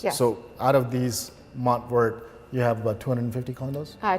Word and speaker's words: MontVert: I might be pronouncing it in English, but in French it's MontVert.